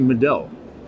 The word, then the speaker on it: Middel: We're talking to Middel. Have I pronounced that correctly? Middel, yes. Middel. In the center. In the middle, yeah.